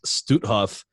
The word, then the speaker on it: Stutthof: him this, that the concentration camp, and it's pronounced Stutthof, and the mass murder that took place inside was only able to take place with your help.